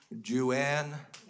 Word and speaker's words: Juan: Juan is spelled J-U-A-N. And if you sound that out in Caucasian ignorance, you get Ju-an. It's not. Remy, it's not Ju-an.